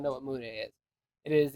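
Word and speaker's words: Mudae: means- Muda. Mude. M-U-D-A. It is. Not M-U-D-A-E. Who says that you say those It's spelled differently? with an E. You do. There's an E on it. Yeah, Mude, not Muda.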